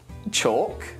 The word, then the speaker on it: chalk: Well, we don't pronounce it in chalk, talk, walk, calm, and palm.